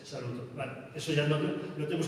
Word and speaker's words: saluton: Todas las palabras tienen el acento sobre la penúltima sílaba. Cuando habéis visto antes saluton, no es salutón, es saluton.